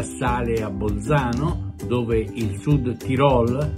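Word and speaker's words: Südtirol: Il Perugia sale a Bolzano, dove il Sud Tirol, l'accento va sulla O, mi raccomando, anche ai colleghi che continuano a definirlo Sud Tirol, è Sud Tirol, parola tronca, e si giocano molto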